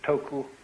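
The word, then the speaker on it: 徳: of this word death the japanese pronounce it toku these cantonese duck and the northern mandarins approximately and uh in the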